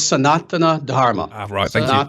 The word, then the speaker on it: Sanatana Dharma: um um sanatana dharma is that the correct pronunciation there close very close actually uh it's sanatana dharma dharma and and yeah the thing is it's